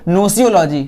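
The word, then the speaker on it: gnosiology: नहीं पढ़ेंगे इसको पढ़ेंगे नो जियोलॉजी ध्यान रखिएगा की यहां पे जी के बाद एन की आप लोग साउंड निकल नहीं पाएंगे तो जब भी कभी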